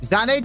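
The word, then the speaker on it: Sané: Zane did pretty well on the right as well.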